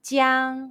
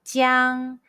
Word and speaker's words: jiang: Let's combine the initial ji and the final yang and a high-pitched first tone all together. Ji, yang, jiang. Repeat after me. Ji, yang, jiang, jiang, jiang, jiang.